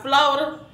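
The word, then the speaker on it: Flawda: TikTok dance by Florida. I think that's how you say his name. It's F-L-A-W-D-A.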